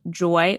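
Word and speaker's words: Joi: And so I decided to get lab work done through an incredible company called Joy Wellness. That's spelled J-O-I Wellness.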